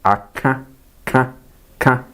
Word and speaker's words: aka: But this time around, the pronunciation is a bit different. The R is what? Nasalized. Aka, ka. It passes through the nose. Aka, but not aka like the previous ones.